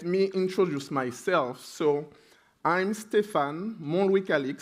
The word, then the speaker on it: Stéphane Montlouis-Calixte: So I'm Stéphane Montlouis-Calixte. So the first T that you see there, it's a trap. You don't need to pronounce it. So it will be Stéphane Montlouis-Calixte.